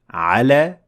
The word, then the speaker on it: على: And depending on the word and the context, you would be able to pronounce it as A, so alif maqsura, or as Ya at the end of the word with the sound E. And you would choose the sound that fits in the sentence the best and makes the most sense.